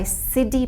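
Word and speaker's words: Siddi: basically uh made by siddhi people siddhi people are african diaspora of india how do you spell that it's s-i-d-d-i okay because i was hearing city okay yeah okay city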